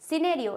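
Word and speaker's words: scenario: सिनेरियो क्या हो जाएगा क्या स्कने यो होगा नहीं सिनेरियो ये क्या हो जाएगा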